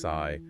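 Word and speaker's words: Psi: And you know, it wasn't unlike the founding stories of Alpha Fi Alpha that's pronounced Fi and Cappa Alpha Sai pronounced Sai, Sigma Gamma Row pronounced row.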